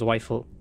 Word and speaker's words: Zweifel: The way it's spelled, it's kind of like, how the heck do you say that? That does like it says Zweifel.